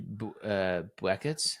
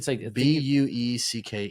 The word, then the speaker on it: Bueckers: No, I think it's like Bueckers. You almost pronounce it like Paige Buckets. Buckers. And it's like Bueckers. It's something like that.